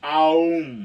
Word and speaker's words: Om: You're supposed to go like Om from your belly, and it's supposed to be Aum, okay?